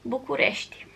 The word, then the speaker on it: București: In Romania you pronounce that as București.